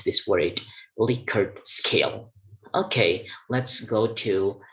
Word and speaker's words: Likert: out that there is only one way to pronounce this word licker scale okay let's go to the next uh